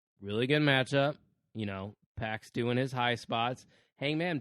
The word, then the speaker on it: PAC: like hangman page versus pack and it is pronounced pack I made sure of that even though it's